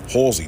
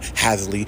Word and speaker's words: Halsey: Halsey, nigga. Hall, like hallway, Hall, Z, nigga. The letter Z. That's it. Halsey, not Hasley, not like, what the fuck is that, bro?